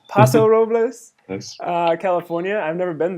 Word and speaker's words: Paso Robles: So this is from Amy from Paso Robles, California. Maybe that's how that's pronounced. I'm not sure. Paso Robles. Paso Robles, Yes.